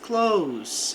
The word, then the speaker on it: close: It's close, fica perto. Lembrando que aqui o S tem som de S mesmo, para não falar o verbo fechar.